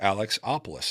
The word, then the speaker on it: Alexopoulos: do you pronounce it she's like Alex opis and I was like no it's not I go how do you pronounce your last name she's like that's really how you pronounce it I was like